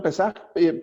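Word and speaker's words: פסח: Se escribe Pesaj, se pronuncia Pesaj, pero tiene un significado.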